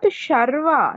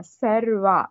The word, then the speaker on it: सर्व: It's not Sharva, Sarva, Sarva. Sa is sharp sound.